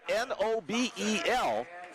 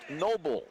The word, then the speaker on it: Nobel: over to noble noble spelled n o b e l but pronounced Noble not Nobel like Alfred Nobel the inventor of gunpowder